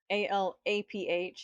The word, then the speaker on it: Aleph: ALAPH is the way it's pronounced.